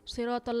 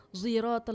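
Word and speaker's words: صراط: Terus siratal ladzina an'amta alaihim, ada yang bacanya ziratal ladzina itu.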